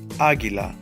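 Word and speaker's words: águila: a look Aguila Aquila where does my voice shift Aguila on the last syllable second to the last syllable in this case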